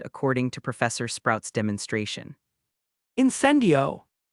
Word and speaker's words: Incendio: Professor Sprout told us the spell's pronunciation is incendio, and the wand movement is as if you were drawing a flame.